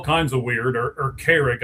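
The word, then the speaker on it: Carrigg: And and Craig is spelled all kinds of weird or or Carrick, I guess, is actually how you say it. C A R R I G G.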